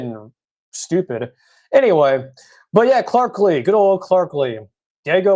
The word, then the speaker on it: Clark Lea: Some folks think it's Clark Lea, but no, it's Clark Lee.